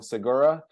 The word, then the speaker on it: Segura: here Stu I'm going to say your last name wrong Segura you got it you got it beautiful awesome